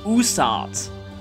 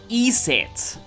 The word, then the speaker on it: Isis: Isis is one of the most iconic Egyptian gods, though recent studies have found that her name was originally pronounced more like Usat, and later Iset. She gained the name Isis when worship of her caught on in Greece and Rome.